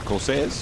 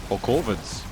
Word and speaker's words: Corsair: No, they're called corsair. Not cos, which is what I thought I was saying when I thought I was saying it wrong.